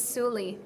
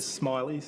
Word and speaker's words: Soorleys: name okay um and it's suli and um but we kind of we just take anything really because um it's a tricky one phonetically but um we've had some we've had some shockers we've had people call us the spoolies the smileys the smileys smallies um so actually it's